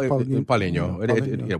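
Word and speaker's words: Paulinho: See, I've been saying it wrong. I always call him Paulino. But Paulino.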